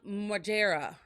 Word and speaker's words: Margera: But I did want to talk about Bam Margera.